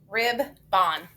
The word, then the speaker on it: ribbon: we just learned yesterday rib bond ribbon never heard that we got a schwa that o rib then ribbon the o got schwab okay let's try this